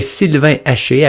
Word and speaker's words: Sylvain Haché: So, bonjour, mon nom est Sylvain Haché. I go by in English because it's easier to pronounce.